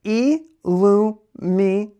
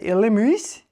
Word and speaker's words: Illumise: Illumize. Illumize. Illumize. I used to say illumise. Illumize.